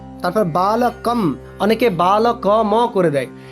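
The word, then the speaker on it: বালকম্: মুখস্ত হয়ে যায় তাই আরেকবার শুনিয়ে দিচ্ছি বালক বালকম বালকে বালকায় বালকাত বালকস্য বালকে বালক অনেকেই হয়তো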